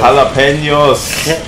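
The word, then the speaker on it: jalapeños: Jalapenos. Jalapenos, aber da ist gar kein CH. Ja, das stimmt, aber die Spanier sprechen das J als Ch aus, deswegen hast du unter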